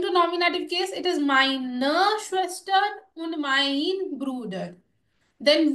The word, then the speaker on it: meine: So either meine Schwester, always remember the E, which is pronounced A, with mine in the end when it's a feminine noun.